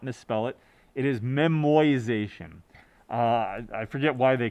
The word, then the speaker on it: memoization: is a new term it is not memorization i did not uh mispronounce that i did not misspell it it is memoization uh i forget why